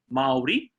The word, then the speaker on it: Māori: okay so for example the correct way to say Maori is Marley now there's a macron on there a macron over the first a which means it's a long a sound so it's moldy okay sounds a little bit like the word moldy is in a moldy cheese or a moldy piece of bread or something Marvy now